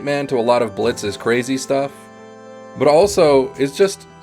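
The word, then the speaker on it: Blitzø: Now, Blitz the O is Silent has more depth than almost any other character in this entire show, and boy howdy is he traumatized.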